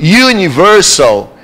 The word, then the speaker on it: universal: Mas quando eu pronuncio universal, esse som do U é o som que ele é escrito de forma...